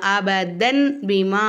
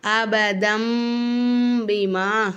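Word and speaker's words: أَبَدًا بِمَا: செய்யணும் மீமா மாத்தி உச்சரிக்கணும் அப்ப இங்க நம்ம அபதன் பீமா அப்படின்னு வாசிக்காம அபதம் பீமா அப்படின்னு நம்ம வாசிக்கணும் தன் அப்படின்னு சொல்லாம தம் அப்படின்னு நம்ம இந்த இடத்துல சொல்லணும் சரிங்களாமா அப்போ அபதம் பிமாமத் ஐதிஹிம்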